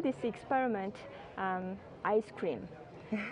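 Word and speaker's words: ISS-CREAM: We call this experiment um ice cream. We spell it as SS cream and pronounce it as ice cream.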